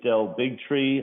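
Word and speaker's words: Del Bigtree: Bigtri, please state your affiliation and proper pronunciation of your name. My name is Dell Bigtri.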